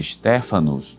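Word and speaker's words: Στέφανος: A palavra Estevan na língua grega se pronuncia Steéfanos, né?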